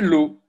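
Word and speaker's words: לו: Pour deux lettres, vous avez le lamed et vous avez un vav avec un point. Et vous savez que le vav avec un point, c'est un O. Donc vous dites, ça c'est l'eau. L'eau.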